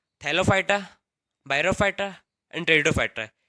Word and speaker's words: टेरिडोफाइटा: Division 3 टेरिडोफाइटा, इसमें पे silent रहता है इसलिए इसको बोलते हैं टेरिडोफाइटा।